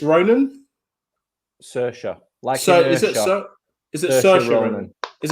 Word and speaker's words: Saoirse: I'm going to screw up the pronunciation for this. So is it Cerise Ronan? Saoirse.